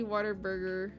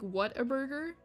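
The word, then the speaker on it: Whataburger: it what what Burger cuz they said it sounds like what a burger like like what and then a burger but like pronounced like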